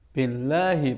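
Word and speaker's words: بالله: Billahi panjangnya lahi itu hanya satu ayunan saja. Bismillahi ya. Bukan bismillah ya. Billahi.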